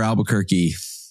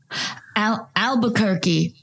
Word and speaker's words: Albuquerque: if we could get Albuquerque rhymes with turkey okay the country and